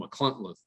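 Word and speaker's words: Machynlleth: It was near there in a place called McCluntleth, and it's pronounced very oddly.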